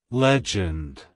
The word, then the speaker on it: Legend: It's pronounced as legend, legend, legend. To pronounce it correctly, emphasize the first syllable lej and end with a soft d sound.